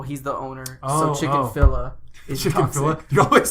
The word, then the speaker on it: Chick-fil-A: It's because it's Chick-fil-A, but you say chicken-filla. Yeah. So you add a syllable and then Yeah. you mispronounce the second Yeah, two.